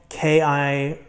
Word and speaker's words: Knipex: It's spelled K-N-I-P-E-X. I say Nipex. Some people say Nipex. Some people say Knipex. I just say Nipex. I'm going to go with Nipex.